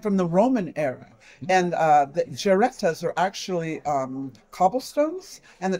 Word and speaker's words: Geretta: It's Geretta. Yes, Did it's I pronounce that right?